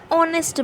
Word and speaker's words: honest: silent for example an honest man an honorable man where h is silent similarly in article da